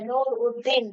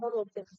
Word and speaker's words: নুরুদ্দিন: দিনের কি নাম ছিল তিনি লিখেছেন নুরুল উদ্দিন হ্যাঁ কিন্তু বলছে যে তিনি বলতেছেন যে এটা হবে নুরুল উদ্দিন মানে নুর উদ্দিন বা নুরুদ্দিন আমাদের এবং রংপুরের মানুষদের উচ্চারণ করেন এবং হিসেবে তিনি সেই